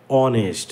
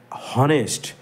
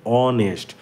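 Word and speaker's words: honest: যেমন হচ্ছে অনেস্ট, দেখেন হনেস্ট উচ্চারণ কিন্তু আমরা হনেস্ট বলি না, কিন্তু সামনে কিন্তু এইস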